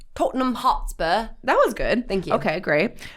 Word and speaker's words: Tottenham Hotspur: M would you like to try British accent Tottenham Hotspur that was good okay great which plays out